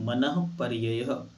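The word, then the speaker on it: मनःपर्ययः: पर्ययः विजु विपुल मति मनः पर्ययः यहां विसर्ग है। विसर्ग का उच्चारण ह की तरह होता है।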